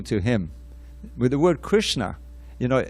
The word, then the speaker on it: Krishna: a powerful word it's made of two syllables i i memorized this first recently which i won't try to chant the sanskrit right now but krish and na krish it means to